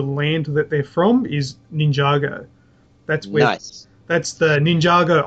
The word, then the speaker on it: Ninjago: know probably could uh last week we talked about the pronunciation and I went with ninjo uh we Shan you agreed with me and we should have went with red yeah red you correct it is Ninjago now the the explanation